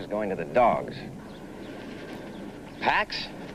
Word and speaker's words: Pax: the right escalators is going to the dogs Pax it's from the Latin word piece it's pronounced PX is would you want a dog named pox yeah okay Pax 86 lbs of bone and